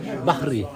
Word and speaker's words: Bahri: Bahri. Ouais. B-A-H-R-I. Ok. Pas Barry White, c'est Bahri White.